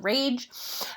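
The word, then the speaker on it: Wrage: Now, a lot of what I'm bringing to you here comes from Ernest Rage, W-R-A-G-E. Yes, it's spelled like rage, but it is Ernest Rage, and he is the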